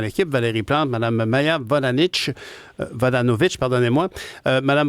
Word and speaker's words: Vodanovic: Valérie Plante, Mme Maya Vodanovic, pardonnez-moi. Mme Vodanovic, bonjour. Bonjour, M. Nantel. Bonjour, est-ce que j'ai bien prononcé votre nom? Oui, la deuxième fois, c'était parfait. Oui, c'est ça. Vodanovic. Vodanovic.